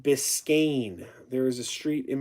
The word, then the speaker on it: Biscayne: Brandon says it's pronounced Biscayne.